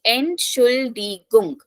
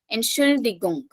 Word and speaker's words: Entschuldigung: So Entschuldigung. Now you don't have to very much emphasize on the letter T. It is a very slight pronunciation. Entschuldigung.